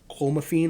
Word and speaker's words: clomiphene: Now I understand that clomiphene, I believe it's pronounced, is a banned substance worldwide for athletes,